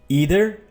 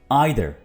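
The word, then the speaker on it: either: ईदर American कहते हैं एंड आइदर British कहते हैं. ठीक है, अगर आप इसको एग्जैक्ट ब्रिटिश प्रोनाउंसिएशन बनाना चाह रहे हैं तो आप इसको बोलिए आइदर, आइदर. और अमेरिकन इसको बोलेंगे ईदर, ईदर.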